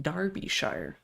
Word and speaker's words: Derbyshire: he did shoot him illegally so Derbyshire is pronounced Darbyshire my mistake if it's if it's a shire